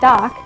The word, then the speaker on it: Dok: bodyguards of the pharaohs the designation dok pronounced doc means defender of kings